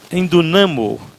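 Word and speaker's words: ἐνδυναμόω: A palavra fortalecei-vos no grego é endu endunamo. Endunamo, aliás, é assim que pronuncia. Endunamo.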